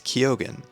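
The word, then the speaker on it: Keoghan: yeah it's fun the cast is fantastic Barry kogan is definitely a standout and yes for people questioning it's kogen that's how he pronounces it I double checked that so Barry kyogen is fantastic Jacob eraldi I think is how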